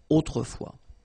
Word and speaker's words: autrefois: Okay, autrefois, so A-U, autrefois, final S not pronounced. Okay, autrefois.